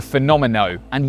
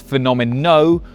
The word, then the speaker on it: Fenomeno: Then the phenomen. And yes, it is phenomenal, not phenomena, because this is named after a bull, not a cow.